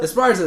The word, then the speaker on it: Esparza: That chick who's from Pasadena who went to the Olympics, Marlene, and I can't pronounce her last name. Esparza? Esparza, there you go.